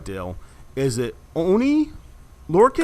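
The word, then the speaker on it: Oney Lorcan: be known as, let me see if I'm pronouncing this right, Dale. Is it Oni Lorcan?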